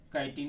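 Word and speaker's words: chitin: काइटिन या चिटिन बोलते हैं। काइटिन और चिटिन जैसा प्रोनाउंसिएशन हो।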